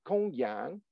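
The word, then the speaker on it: Gongyang: alphabet translate transliteration is pronounced like a k like in kangaroo so it's Kung Yang chuang z h u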